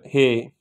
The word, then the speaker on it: ح: is no dot so we call it uh Hey in Udu we pronunciate like this hey so here we can